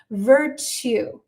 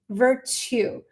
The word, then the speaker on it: virtue: And the way that you pronounce this word, the ending on this word sounds like to. Hey, Emanuel, nice to have you on board. Virtue. Virtue.